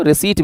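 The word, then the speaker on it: receipt: या revenue रिसीप्ट इसको रिसीट भी बोल सकते हैं। पी साइलेंट होता है इसमें और रेवेन्यू एक्सपेंडिचर और ये है कैपिटल इनकम और कैपिटल एक्सपेंडिचर।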